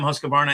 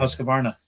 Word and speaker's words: Husqvarna: Okay, KTM, Husqvarna, and GasGas.